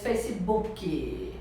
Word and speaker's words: Facebook: a pessoa falar inglês Facebook Facebook então é uma palavra composta e Normalmente quando a palavra é composta o o stress né a sílaba a sílaba mais forte é a primeira Então você vai instalar